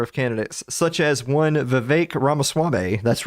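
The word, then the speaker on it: Vivek Ramaswamy: kind for number of candidates such as One V Ras swame that's right I learned to say his name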